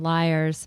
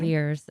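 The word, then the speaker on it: Lyre's: And backing up a little bit on liars, for those who aren't familiar, it's spelled Lyre apostrophe S. I actually thought it was Mhm. Lears until I've had conversations out loud with you guys.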